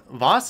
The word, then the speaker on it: Voss: Voss is good. Voss rhymes with Oz, but I think I know which one I'm going with.